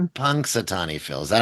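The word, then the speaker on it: Punxsutawney: Punksatani Phil.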